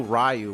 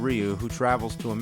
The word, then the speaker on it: Ryu: We didn't know Ryu was actually Ryu. Blanca, some people Wait, people say Ryu? Really?